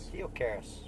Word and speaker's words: Theocaris: how do you pronounce the last name? Theocaris. Sweet. It's Greek. Yeah.